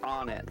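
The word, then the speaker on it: Onett: speaking of pronouncing things I always pronounced uh onet as on it for the longest time and then I heard that it's it was supposed to be pronounced onet so I started changing it and now everybody's telling me that it's actually one TT well and never forget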